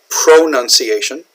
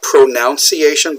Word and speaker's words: pronunciation: So pronunciation, or it's not pronunciation, but pronunciation. Okay, there's no O here. It's not, if we write the word pronounce, we pronounce a word, that's the verb, but the noun here is pronunciation.